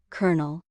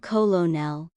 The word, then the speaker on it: colonel: Colonel. Sounds like colonel. Not colonel.